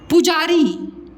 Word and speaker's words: पुजारी: तो बताओ क्या बोलते हो, पूजारी बोलते हो कि पुजारी।